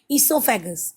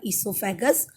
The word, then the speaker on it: esophagus: us uh discuss now esophagus what is esophagus if you see see the spelling o is silent here okay esophagus only is a